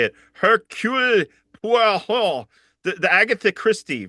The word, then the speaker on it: Hercule Poirot: Hercule Poirot, the Agatha Christie, right?